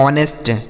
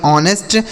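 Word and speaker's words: honest: नेक्स्ट word है दोस्तों एच ओ एन ई एस टी। इसे पढ़ा जाता है दोस्तों ऑनेस्ट। क्या पढ़ा जाता है? ऑनेस्ट। ठीक है? यहां जो एच लिखा गया है ना यह साइलेंट है। तो इसे पढ़ेंगे ऑनेस्ट।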